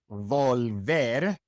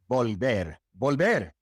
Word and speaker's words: volver: Here we have two V's, and we pronounce both of them like a B. It is not volver, it is volver.